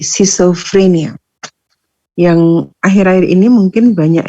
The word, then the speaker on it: schizophrenia: Jadi membacanya C meskipun di situ ada C ya, jadi bukan ski tapi C, schizophrenia.